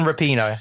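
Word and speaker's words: Rapinoe: RPD rapid and how to pronounce it it's pronounced Megan rapino yeah baby I'll give you the points yeah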